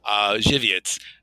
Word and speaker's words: Żywiec: It's spelled Zywiec. Okay, it's Polish. It's clearly Polish. Żywiec.